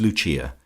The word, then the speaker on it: Lucia: of her subjects as Lucia, pronounced, of course, in the Italian mode La Lucia, the wife of Lucas.